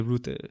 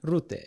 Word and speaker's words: Rutte: in Dutch, you say Rutte. Rutte.